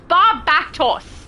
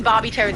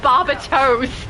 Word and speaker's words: Barbatos: And now I'm going to be thinking Barbie Toes every time.